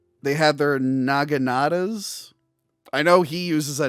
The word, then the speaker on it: naginata: That's why I had to say it very very slow cuz I'm just like, "No, naginata."